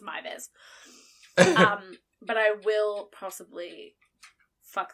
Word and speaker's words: Meiwes: me reading it, I was reading it as Muse or something like that. Yeah. And then when I found the mini documentary, I actually got to hear him pronounce his name. And he introduced himself as Armin Mivers.